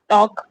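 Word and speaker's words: talk: टॉक में भी एल को साइलेंट रखा गया है।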